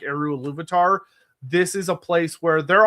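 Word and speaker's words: Ilúvatar: Yeah, he's in the race in a way that he is not in the race against how do you pronounce it again? Iluvatar? Oh yeah, Iluvatar, yeah.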